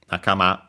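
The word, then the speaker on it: 仲間: As a reminder, it's a compound noun of strictly Japanese origin, both the terms, yeah, accent on the last syllable, it's so nakama.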